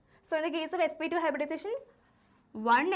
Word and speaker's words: sp2: of hybridization here okay pronunciation will be sp2 sp3 not about square and cube right this is sp hybridization and second one is sp2 hybridization not it is it is not sp square right okay now let